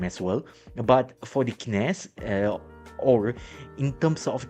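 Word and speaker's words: CNES: But for the kines uh or in terms of the spelling they it spells as c nest but but uh true to the French pronunciation it's actually pronounced as kines. Okay, we kines has already start going live.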